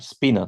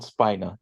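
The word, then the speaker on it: spinor: be a SP Spiner representation of laen spner spinner spinner use the word spinner it's not Spiner it's spinner the word spinner yes yes that's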